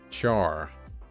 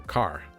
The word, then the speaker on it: char: Char. Which is weird because it's character. So car. Char. There we go.